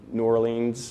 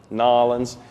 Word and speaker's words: New Orleans: year we'll be in New Orleans or New Orleans how people pronounce nawlins but it's a huge